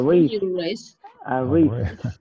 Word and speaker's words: wrist: A wrist. Esta W no suena y solamente se pronuncia desde la R. Wrist.